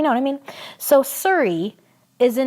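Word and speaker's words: Suri: And then the name Surrey, S-U-R-I, like Surrey Cruise.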